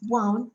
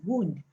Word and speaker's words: wound: it's also wine and the past tense of wine is wound right and this wound can also be pronounced as wound which means injury cut on your body that's what shaping has